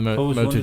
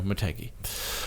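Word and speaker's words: Motegi: maty anyway which is where they have the Moto G pronounced M I think I think that's how it's pronounced mot mot no maty um and mainly because Honda own maty as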